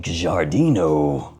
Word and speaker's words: Giardino: Check it out, it's Paris Corner Cosmic Giardino.